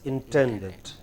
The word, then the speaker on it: intended: intended as intended yes the stress is on ten as intended you you you know